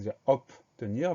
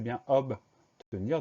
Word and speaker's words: obtenir: Alors, quand on le prononce vite, on a tendance à dire obtenir, mais c'est bien obtenir, donc O-B au début du mot.